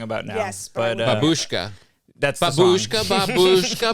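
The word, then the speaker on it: бабушка: So you have to have a lot of ba. Babushka. Babushka. What's the wrong way? Здравствуйте. Babushka. Oh, they're doing bo.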